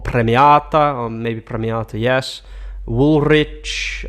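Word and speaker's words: Woolrich: or maybe Premier yes wool rich or Woolwich because it's um actually an American brand so it shouldn't be pronounced like that putere is another brand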